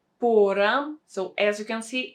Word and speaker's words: пора: And the third word is pora. Pora. So as you can see, it doesn't sound the same. We don't have the stress on the same syllable.